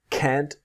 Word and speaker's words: can't: I'm sorry, but I just can't do it for him. So if you see the can't is the T never disappears and it's always strong.